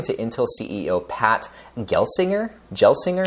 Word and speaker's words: Gelsinger: intel ceo pat gelsinger gelsinger is how you pronounce it i don't know with the industry forecast